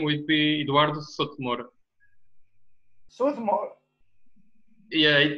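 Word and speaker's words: Eduardo Souto de Moura: we get it uh uh so the person pronunciation the full name would be Eduardo sotomura yeah it's a little bit uh close the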